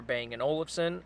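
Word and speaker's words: Bang & Olufsen: to the bno speaker bang an Olson I believe that's how it's pronounced and it's mixed reviews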